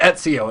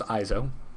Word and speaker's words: EIZO: I wanted to call it Ezio. It looked like frickin' what's-his-name's name from Assassin's Creed. Oh, yeah, it does. Yeah. So I'm really... It's apparently pronounced EIZO.